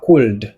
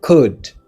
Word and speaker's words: could: C'est pas c'est pas cold, c'est could. Could.